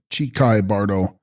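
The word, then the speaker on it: འཆི་ཁའི་བར་དོ: Text: Hichai Kahi bardo, pronounced Chikai bardo, intermediate state or state of uncertainty of the dying moment or moment of death.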